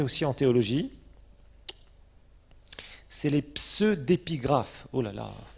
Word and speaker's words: pseudépigraphe: Alors maintenant, il y a un autre terme que vous trouverez aussi en théologie, c'est les pseudépigraphes. Oh là là, pseudépigraphes, comme pseudo, quand on parle d'un pseudonyme, PSEU, pseudépigraphe.